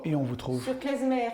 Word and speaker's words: Klezmer: Sur Klezmer, parce que beaucoup disent Klezmer, mais en fait, Klezmer s'écrit K-L-E-Z-M-E-R.